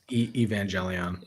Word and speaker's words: Evangelion: Evangelion. Evangelion.